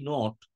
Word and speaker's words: knot: এই যে নট কথাটা বললাম, KNOT, নট, এই নটটা দেখো, আর একটা নট আছে NOT, দুটোর মানে তাহলে আলাদা হলো। NOT একটা negative word, R KNOT, নট, এটা একটা ডিফারেন্ট ওয়ার্ড, স্পেলিংটা আলাদা কিন্তু উচ্চারণ এক, এর মানেটা আলাদা হয়ে গেল, তাই না?